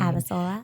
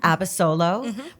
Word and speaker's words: Abasolo: Oh, I'm going to mispronounce his last name. Abasolo. Abasolo.